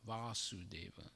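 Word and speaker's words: Vāsudeva: son of vasudeva and he's called vasudeva long a so this subject is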